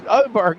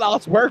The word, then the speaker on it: Oberg: Oberg, not Osberg.